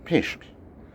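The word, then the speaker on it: Pictish: P-I-C-T-I-S-H. Yeah, pished. Yeah, you try and pronounce that differently.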